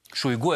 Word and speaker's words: Шойгу: белоусов смяната на сергей шойгу шойгу е правилното ударение между другото на име шойгу да ами вижте какво